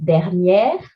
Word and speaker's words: dernière: Accent grave, open again, dernière.